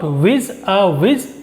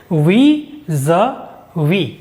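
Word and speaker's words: vis-à-vis: it is we we it is not WI a wi it is we Z we it is a preposition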